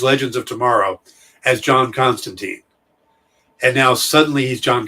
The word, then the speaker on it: Constantine: first thing they call they pronounce the constant time and i'm trying to go with that but it's been john constantine my entire life and he shows up